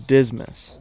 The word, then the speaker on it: Dismas: Despite its morbid aspect, this twisted I swear to God, his name is Dismas. almost traversable. The first 4 people you get are always the same. The Reynold, Dismas, Surplus.